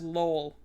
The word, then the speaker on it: Lowell: let me umass lowell lowell l-o-w-e-l-l but you don't i don't pronounce the uh w that much i do a very light one it's a umass lol so okay i didn't